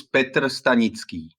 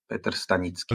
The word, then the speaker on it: Petr Stanicky: name correctly for me my name is Peter stanitzki pronounced in Czech yeah pet stanitzki okay great now you